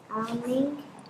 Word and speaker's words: awning: She landed on a awning. So, have a look at this word for me. These two letters together, they make an aw sound. So it's awning.